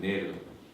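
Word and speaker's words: נר: 근데 이 등이라는 단어가 네르입니다. 네르. 히브리 알파벳 거꾸로 있죠. 이쪽에 있는 거. 전 밑에 저기 모음이에요. 전 두 개가 에 발음입니다. 그리고 이게 눈이에요. 눈. 뜻이 뭐라 생명이라는 뜻이라고 했죠. 그다음 옆에 있는 부드럽게 꺾인 기역자 같은 게 저게 뭐냐면 R 발음. R 발음. 그래서 저걸 읽을 때 네르라고 해요.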